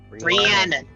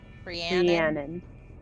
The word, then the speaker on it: Rhiannon: Wait, how is the name pronounced again? Rhiannon. Rhiannon.